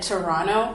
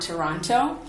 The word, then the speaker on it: Toronto: Notice that I said Toronto and not Toronto.